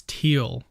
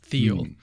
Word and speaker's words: Thiel: So someone mentioned in the comments that I'm mispronouncing his name. It's Thiel, not Thiel. Peter Thiel. Okay. Those enough. Germans and their THs.